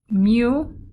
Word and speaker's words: mu: Mu, which is a U with a tail in front, represents the population mean. And the way you pronounce that is mu, mu.